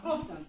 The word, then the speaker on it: кроссенс: Мы сначала как оно читается, а потом попробуем его объяснить. Итак, кроссенс.